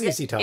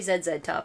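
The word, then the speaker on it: ZZ Top: call Carl it is zzy top it is easy top because they from the US yeah we would not say z z top it's that just sounds so wrong I heard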